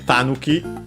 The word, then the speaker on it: tanuki: Uh Tanuki should be accented. I think we've seen it uh once before. Uh should be accented on the first syllable.